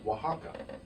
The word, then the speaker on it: Oaxaca: to travel to, is Oaxaca. You would not pronounce it that way if you saw it spelled, because the first letter is an O.